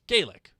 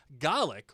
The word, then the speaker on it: Gaelic: Gaelic when pronounced with a long a is Gaelic and that is Irish. Gollic when pronounced with a short A is GI and that is Scottish.